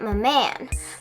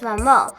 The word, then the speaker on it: Maman: When you first see the name, you'll likely pronounce it Maman. Like, hey, what's up, Maman? Just like I did at first. But I did some research and found that in French it is pronounced Maman.